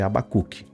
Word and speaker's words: Habacuque: Ele pronunciou 2 vezes errado e diz que é o certo. O certo é Abacuque.